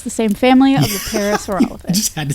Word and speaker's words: Parasaurolophus: The same family of the Parasaurolophus.